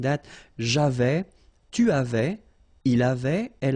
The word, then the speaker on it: j'avais: So j'avais, final S not pronounced.